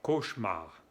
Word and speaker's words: cauchemar: on dit aussi un cauchemar et on ne prononce pas le ici c'est un e muet cauchemar je préfère un beau rêve qu'un cauchemar comment